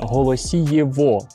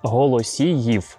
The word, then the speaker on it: Голосіїв: тотального з росіїщення Києва багато людей називається район Голосієво але українською мовою так неправильно говорити тому якщо ви так ще говорите забувайте треба вимовляти голосіїв вперше голосіїв згадується ще